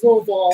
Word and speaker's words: Louisville: and dustin's from louisville it is louisville like all one syllable guys as much one syllable as you can make it just but um